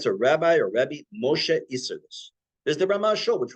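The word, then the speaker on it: Isserles: He's pronounced Isserlis, from Krakow, Poland.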